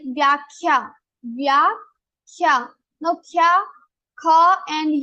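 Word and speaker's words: व्याख्या: Now you can say kha and kha vyakhya, but we say vyakhya, not vyakhya. So what we do is for the second letter we take first. When we do dvitva, we have to repeat. So we only take the first letter of the group.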